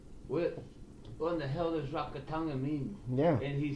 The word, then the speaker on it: Rakatanga: I am here with, alright, let's make sure I say it right, Rakatanga? Rakatanga.